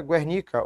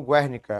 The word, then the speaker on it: Guernica: quanto em termos históricos criou a obra chamada Guernica ou Guernica a pronúncia é o nome de uma cidade espanhola